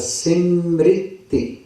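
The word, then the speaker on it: सिमृति: जाएगा प्रसाद इस तरह ये शब्द है इसका उच्चारण है सि मृति वेद पुराण सि मृति देखिए य शब्द जो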